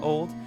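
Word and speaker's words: Olde: And yes, I know in the comments people are gonna be like, it's just pronounced old.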